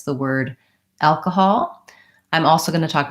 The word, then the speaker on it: alcohol: and in this word, it's the first syllable, al. So we have long, short, alcohol. So kahal are short. The vowel in the stressed syllable al is the vowel a, like in cat and black.